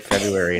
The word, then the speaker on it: February: Yeah, it's like February in the R. You don't really hear it, but you could pronounce it if you want it because it's not silent.